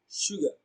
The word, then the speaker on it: sugar: shown on the screen so color and sugar have the same vowel sound that the schwa sound color sugar so we can see the schwa in color and in sugar so the answer to